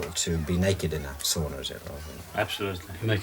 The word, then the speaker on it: sauna: The Finnish religion is sauna, or sauna as I mispronounce it.